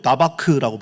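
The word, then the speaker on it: דבק: 여기에 바로 그 붙춤 히브리어로 다바크라고 발음합니다.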